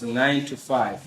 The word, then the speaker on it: 925: It's called 9 to 5. It's 925. Okay. But we pronounce it as 9 to 5.